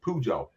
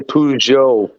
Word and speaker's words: Peugeot: Mark says they're pronounced Peugeot. Peugeot. So Yes, that's Peugeot Fred. and Renault are pronounced about the same, and I've worked at both companies. Joe. Yeah, I would almost say Peugeot, like ZHO. Joe.